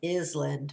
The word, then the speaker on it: island: there sign an island that s is silent it looks like it looks like is 'land but it's island okay